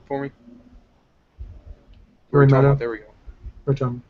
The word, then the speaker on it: Yoritomo: Yoritomo. There we go. Yoritomo. Is it Yorimoto or Yori? It's Yoritomo. I keep wanting to say Moto because of the Morimoto, because my brain.